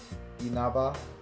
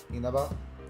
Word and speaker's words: Inaba: Like what, because you're mostly not supposed to stress any syllables in standard Japanese.